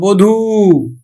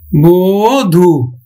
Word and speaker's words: বধূ: যেমন দেখো বধূ, আমরা আদ্য অ এর পরে কি পাইছি? দীর্ঘইকার, এই জন্য কিন্তু আদ্য অটা ও এর মতো উচ্চারিত হবে, বধূ।